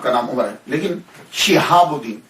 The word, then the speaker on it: شہاب الدین: نام عمر ہے، لیکن شہاب الدین، شین کے نیچے زیر، شہاب الدین، شہاب الحق